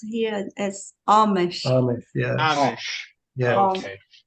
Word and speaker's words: Amish: And the name is pronounced here as Amish.